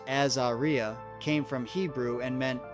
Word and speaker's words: Azaria: Her name Azeria, pronounced Azaria, came from Hebrew and meant blessed of God.